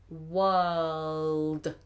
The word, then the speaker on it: world: pronounce the word world world make sure you get that dark l in there world world um um